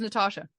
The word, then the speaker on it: Natasha: it Natasha no no my name's Natasha it is Natasha yeah with a long a with a long a